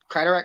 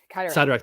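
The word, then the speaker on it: Cyttorak: Kryderek? I can't pronounce it either. Sidorak. Sidorak.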